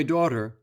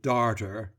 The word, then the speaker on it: daughter: advertisements and theatrical notices my daughter she pronounced it darter is as good as